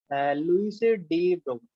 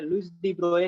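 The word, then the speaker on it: Louis de Broglie: ठीक है, लुइस डी ब्रोगली, ठीक है, लुइस डी ब्रोए, ठीक है, भी से ही कह देते हैं। ठीक है, बढ़िया प्रोनाउंसिएशन, अगर जो आप गूगल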